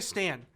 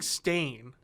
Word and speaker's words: Stane: Obadiah Stane. Yes. I was saying. It's fine. I thought you were saying Stain. It's spelled Stane.